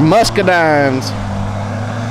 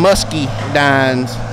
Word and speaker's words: muscadine: toes on those are muscadines some people call them musky dines they're actually supposed to be pronounced muscadine I believe I may be wrong he'll who knows anyway